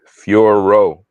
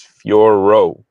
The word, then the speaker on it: Fiorot: So many people calling her Fior still. It's two syllables. It's Fiorot. It's also Manon, not Manon. It's Manon. Yeah, the French accent. I'll butcher it. Forgive me, Manon Fiorot. It's you don't even roll the R.